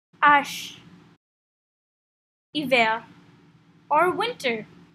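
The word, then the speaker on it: hiver: we have h ash iver or winter as you may have noticed the eight in evil is silent wheat is eight repeat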